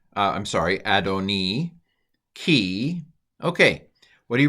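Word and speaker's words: אֲדֹנִי: can pronounce this Hebrew here's how I would pronounce it vom Mah Kain B A NAA Adonai I'm sorry adoni key okay what do you recognize Adonai it's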